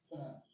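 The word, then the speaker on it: comb: एम के बाद, जैसे एम के बाद हमने कहा सी ओ एम बी, तो यहाँ पर बी क्या है, साइलेंट है। इसको हम पढ़ेंगे कॉम।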